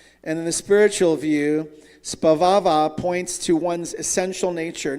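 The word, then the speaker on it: स्वभाव: It's pronounced svabhava. Does anybody know it? Svabhava. Let's say it. Sva-ba-va.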